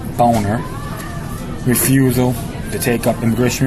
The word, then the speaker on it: Boehner: conference regarding us Speaker John Boehner actually pronounced boner refusal to take up